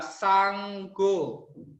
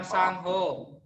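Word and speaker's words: Saṅgho: Berarti G-nya ada 2 ya. Sanggo. Bukan Sangho. Bukan Sangho, tapi Sanggo.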